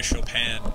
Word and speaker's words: Chopin: by both offenbach and chopin never understood why chopin was pronounced chopin because it's spelt chopin this is